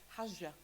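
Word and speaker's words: حج: The Arabic word comes from this same Semitic root of the word, and it's pronounced as hajja.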